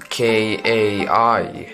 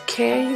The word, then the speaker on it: Kai: was my grandpa's name it's just it's just Kai like just two letters can Y no it's k-a-i wouldn't that be pronounced okay or something no it's actually still Kai well my name is